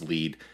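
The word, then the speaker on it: lede: call this first paragraph the lead uh pronounced lead and sometimes spelled l-e-d-e there are many kinds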